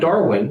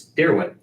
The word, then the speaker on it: Darwin: And I've also, by talking to somebody in Oklahoma yesterday, says we've been mispronouncing Darwin Thompson's name incorrectly the whole time. So what's your not Darwin, it's Darwin.